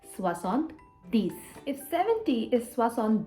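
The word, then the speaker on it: soixante-dix: was the same but 70 is not septon it's swasant these if 70 is what's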